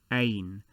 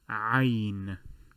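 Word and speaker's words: عين: tend to translate it that is ain that is incorrect it is also it also emanates from the pharynx which we will cover in the anatomical diagram in a bit the letter is called ein which is also the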